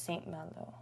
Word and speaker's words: Saint Malo: Saint Malone. Oh my gosh, you're so close. Saint. But it's Saint Malo.